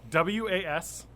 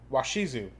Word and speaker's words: Washizu: pronunciation guide for that because I'm going to mispronounce it so what is it how's it spelled w-a-s-h-i-z-u washizu washizu thank you I can't even say it